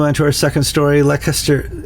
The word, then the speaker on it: Leicester: Lester, how do you pronounce that? Lancaster. like Lester. There's no there's no s there. How could that be Lester?